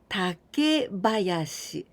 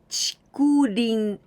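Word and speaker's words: 竹林: And we can pronounce in 2 ways. One of them, takebayashi. Takebayashi. And also, it's okay, chikurin. In this case, chikurin, this is onyomi.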